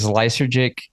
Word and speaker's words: Lysergic: let them have this one, Well, so is Lysergic, is that how you pronounce it?